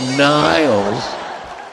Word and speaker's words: Niles: You have to put your teeth together and keep them and say Niles. Niles. God, it sounds like I should be convicted of saying that.